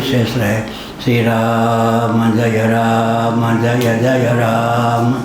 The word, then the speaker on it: राम: Shri राम जय राम जय जय राम। Shri राम जय राम जय जय राम। Shri राम जय राम जय जय राम। Shri राम जय राम जय जय राम। Shri राम जय राम जय जय राम।